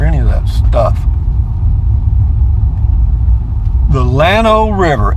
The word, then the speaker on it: Llano: of that stuff the Llano river ll ano in spanish the the two elves together is pronounced why in other words so in spanish it would be pronounced yon oh and it used to